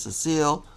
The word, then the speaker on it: Cecil: one where you play as cecile or cecil however you prefer to pronounce his name depending on the voice actor you know they are pronounced in a different way i know back in